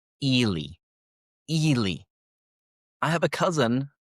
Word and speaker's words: Ely: And then we have E L Y. Ellie, right? Ellie. Mm-m. In this case, the pronunciation is Elely.